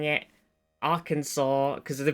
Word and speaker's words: Arkansas: I was like, I always read it as Arkansas because I forget that it is, in fact, for some reason pronounced Arkansas.